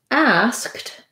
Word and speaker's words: asked: the d for ed asked ends in a voiceless sound the sound is voiceless and so in that case ed says the t sound and so i just